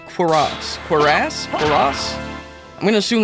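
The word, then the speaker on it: cuirass: According to Google, it's pronounced Quiraz.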